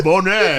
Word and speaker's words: Boney: You are battling someone named Boney from Las Vegas. Bonet. Bonet. Even French fella, huh? even lamer. No, French fella, huh? No, Bonet.